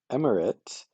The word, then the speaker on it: Emirate: But then Emirate, or Emirati, uh, or just Emirate, yeah, is definitely pronounced M, but then Urit is the ending, so you have to repronounce that as irate.